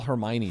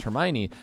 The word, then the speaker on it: Hermione: they told me that the name was pronounced Hermione but when the when